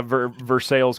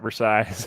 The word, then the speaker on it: Versailles: yeah it's Jellico around here just like uh Versailles Kentucky not Versailles I hear it hold me accountable fact check